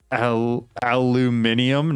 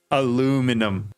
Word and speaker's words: aluminum: Aluminium?